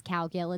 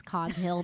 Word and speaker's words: Coghill: So a lot of people think my last name is Cowgill. It's Coghill, but call me whatever you want.